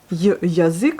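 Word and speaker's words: язык: Là, pareil, on peut entendre yazik, yazik, vous voyez, au lieu de ya, puisqu'il n'est pas accentué ce ya, malgré qu'il se trouve en première position. Et ce qui est accentué, c'est la lettre U. Donc on prononce bien yazik.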